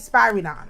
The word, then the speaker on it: Spyridon: I wrote his name wrong, but his name is St Spyridon.